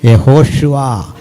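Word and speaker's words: יהושע: പേരെന്താ ജീസസ് പോട്ടെ അപ്പോ കൃത്യമായ ഉച്ചാരണം എങ്ങനാ യഹോഷുവ യേശുക്രിസ്തു ഹല്ലേലൂയ അപ്പോ ഇത്രയൊക്കെ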